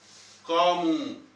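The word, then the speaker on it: قُمْ: वो यानी उन पर, कामू खड़े हो जाते हैं। आप यहाँ पे कहते हैं गुम, गुम, और असल में प्रोनाउंसिएशन यहाँ की गुम है, लेकिन असल में क्या है, कुम, क्या है, कुम, तो यानी खड़े होना।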